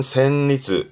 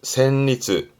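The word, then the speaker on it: 旋律: 발음은 센리즈. 센리즈 음악적인 얘기지요.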